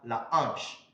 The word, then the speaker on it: hanche: When the letter H is in contact with other letters in a word, then it is H. It is silent. Sorry, it is silent. Example, in these words, for example, we have la hanche.